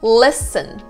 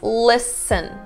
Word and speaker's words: listen: Listen. You don't pronounce the T again. It's listen. There's no T whatsoever.